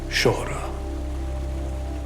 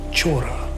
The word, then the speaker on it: Sohra: during the british raj the imperialist governors couldn't pronounce shora they would call it chora and the rest is